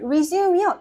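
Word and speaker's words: résumé: resume이요.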